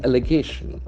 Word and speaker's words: allegation: t i o n it's a beautiful word see allegation allegation allegation cancel the allegation tax and faults on the third syllable allegation allegation it's a